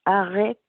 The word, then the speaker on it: Arreak: Well, like I said when I introduced myself, my name is Arreak, but it's pronounced Arreak in Inuktitut.